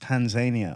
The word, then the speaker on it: Tanzania: cronin francis cronin and i'm just back from tanzania which is actually pronounced tanzania over there okay so because i'm always very